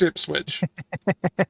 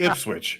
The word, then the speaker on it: Ipswich: be pronounced ipswitch it's ipswitch oh it's actually ipswitch it switch it's actually is it switch unbelievably that's yeah unbelievably it is actually said how it's spelled it's the only town